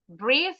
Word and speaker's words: breathe: Breathe sama breath jangan ketukar. Breath itu th-nya bergetar. Breath un voice breathe ada e-nya di belakang voice.